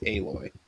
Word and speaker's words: Aloy: it's spelled Alloy, but it's pronounced Aloy.